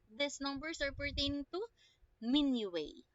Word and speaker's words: minuet: numbers are pertaining to mini way okay not minuet not me no at not minute or minute not that okay it is called as menu way okay mini way next one how about